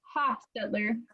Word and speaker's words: Hostetler: It has a short O, Hostetler.